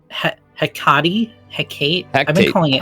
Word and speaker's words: Hecate: How do you pronounce Hecate? Hecate? I've been calling it Hecate. Hectate, but there's no T.